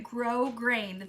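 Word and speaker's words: grosgrain: do prize Patrol okay I did say it right grow grain thank you Barb uh grow grain ribbon that's so weird that it's spelled like that but I'm glad I said it right um so last week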